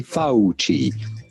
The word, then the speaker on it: Fauci: do you go about pronouncing this last name fauci yes in italian the sea is pronounced like ch so do say fauci anthony fauci hanoi i will teach you how to fix